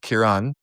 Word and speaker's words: Ciaran: Ciaran, yeah. Ciaran. Ciaran. Cuz okay, cuz yeah, in America it's Ciaran. Yeah, like Kieran Culkin. Yes. Yeah, yeah, yeah, yeah. But Ciaran.